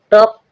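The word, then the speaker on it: talk: टॉक टॉक means बातचीत करना। टॉक टॉक means बातचीत करना। एल के बाद जब के आएगा जब एल साइलेंट रहेगा।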